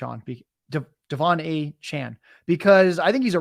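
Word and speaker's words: De'Von Achane: saying his name wrong at first I thought it was Devin then I learned it was Devon now we're learning it is not a chain it is a Chan Devon a Chan doesn't roll off the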